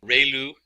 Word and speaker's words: ReLU: function, we have the ReLU, it's pronounced like ray, the ray from the sun, and lu, like a name, so ReLU function.